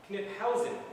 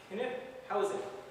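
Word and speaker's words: Knyphausen: And the 2nd Division was commanded by Lieutenant General Wilhelm von Kniphausen. That's how to pronounce his name. Now, Kniphausen.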